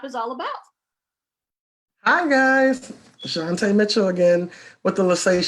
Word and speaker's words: Jantie: Shantay Mitchell, yes.